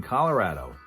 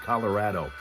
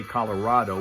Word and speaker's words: Colorado: lives there who says that's how you say it, Colorado. Some people like to say Colorado, which they say is not necessarily wrong, but it's just not the prevailing way that it's pronounced in that state, Colorado.